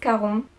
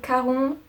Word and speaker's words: Charon: C'est Charon je vais le prononcer à la française désolé, c'est Charon le passeur d'Hadès dans la mythologie grecque et romaine.